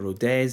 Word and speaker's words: Rodez: In the second league, we've got Ogair, Gangmp, Mets, Grenob 38, uh, you got Lemon, Leil, Nice, Rode or Rodez, depending on if you have to pronounce the Z, Ster, Evian, Tulus, and U, Santalo.